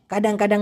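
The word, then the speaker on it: kadang-kadang: Malaysian ভাষায় বলা হয় কাডাং কাডাং কাডাং কাডাং তো মাঝেমধ্যে খাই কাডাং কাডাং মাকান অনেকে শুনেছি এটাকে বলে কেডাং কেডং কুডুং কাডাং এরকম বিকৃতভাবে বলে মূলত উচ্চারণটা হবে কাডাং কাডাং কাডাং কাডাং তো মাঝে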